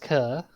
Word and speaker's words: coeur: Hello, mon coeur. It's pronounced cur.